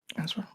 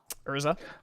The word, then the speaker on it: Urza: I'm gonna put -1 on Ezra. Urza. I said it wrong again. Still R before the Z.